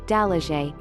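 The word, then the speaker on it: Dalaguete: osmania peak going south you could climb the osmena peak of cebu in mantalongan delegate pronounced dalaje standing at 1013 meters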